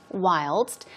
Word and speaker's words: whilst: chiefly British okay wild whilst the St is pronounced so it means while at the same time during something as uh North Americans often say while the British may say whilst keep that in mind